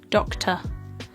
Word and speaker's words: doctor: as the schwa sound this R sound can essentially be produced if you just relax your jaw down and relax your tongue and just go rather doctor and that's essentially the